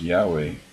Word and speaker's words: Yahweh: While it is almost, if not quite certain, that the name was originally pronounced Yahweh, this pronunciation was not indicated with the Masoret's